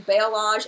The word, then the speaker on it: balayage: What's the difference between balayage and ombre?